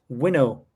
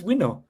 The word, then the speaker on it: winnow: It's spelled WINNOW. So it's kind of like window, but with the second N instead of a D.